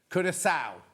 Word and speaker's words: Curaçao: Oh, he's done it phonetically, but it didn't come up. No. So how do you say it, Dan? Curaçao.